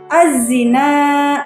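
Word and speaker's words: الزنا: Yang ketiga, taqrabuz zina, az-zina, alif lam syamsiyah. Kenapa hukum bacaannya alif lam syamsiyah? Karena alif lam mati yang bertemu dengan salah satu huruf syamsiyah dibacanya lebur, sehingga bunyi al tidak dibaca.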